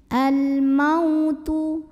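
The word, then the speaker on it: الموت: tidak kita sukunkan maka jika tidak berhenti bacanya cukup kita lembutan lembutkan ya Al mautu mau dilembutin Al mautual ada huruf Lin karena ada wau sukun yang didahului baris fathah cara membacanya cukup kita lembutkan berikutnya ada Qolqolah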